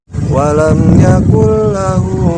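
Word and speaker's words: وَلَمْ يَكُن لَّهُ: lam nah dia jadi cara membacanya adalah Nun nya dimasukkan ke dalam huruf berikutnya yaitu alam seperti contoh ya walam Yakul lahu walam Yakul lahu tuh Jadi nurnya dimasukkan kedalam lam jadi nonya tidak dibaca walam yakullahu seperti itu nah kemudian tanda-tanda hijau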